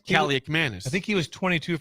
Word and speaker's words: Kaliakmanis: Dare Ethan Callie-Manis to run. Is that how you say it? Kaliakmanis.